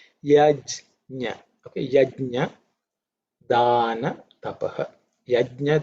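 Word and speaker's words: यज्ञ: It's no harm in repeating because many people pronounce it as yagna, G-N-A. Some people pronounce it as G-Y-A, yagya. These are regional derivations or morphing of that language. But pure Sanskrit is yajna.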